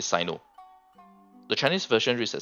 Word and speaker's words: Cyno: tinari but at least I know that the Chinese version is actually Sino the Chinese version reset Sino so I'm going to